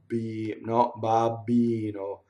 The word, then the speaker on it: babbino: And what happens is that you don't stop phonation when you do double B in Italian, when you're in Italian, right? So it's "O mio babbino," babbino. See, the vocal cords never stop. Babbino, not babbino. There's not the stop like the double T.